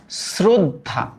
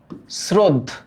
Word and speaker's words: শ্রদ্ধা: দেখো, এইটার উচ্চারণ কিন্তু আমরা করি শ্রদ্ধা, শ্রদ্ধ। হ্যাঁ, শ্রদ্ধা।